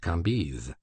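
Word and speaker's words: Cambis: was pronounced Lei KES c a m b i s pronounced kiz these antique visages and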